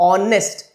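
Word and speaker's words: honest: We will not only learn letter, ऑनेस्ट में भी vowel अ आता है, मतलब प्रोनाउंसिएशन हमें देखना है। इट्स नॉट एच but pronunciation a, ऑनेस्ट, and that is why again it इज एन।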